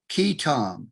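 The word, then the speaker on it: qui tam: Anyway, they referred to a type of lawsuit that was called, and they called it, both the candidate and the senators, Quitam, Q-U-I-T-A-M, Quitam lawsuits.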